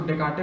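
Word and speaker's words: Descartes: है क्या ख आर रेने डि काटे इसको डि काटे पढ़ते हैं एस साइलेंट ये क्या आरई एन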